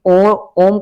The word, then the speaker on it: ओम: उसका कारण यही है कि ओम का जब उच्चारण किया जाता है तो भ्रमर गति से उच्चारण किया जाता है।